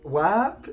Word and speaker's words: Warp: I would pronounce this word warp. I guess someone from the United States would say warp. But like, yeah, the way she's saying it, wap, wap, is what she's saying.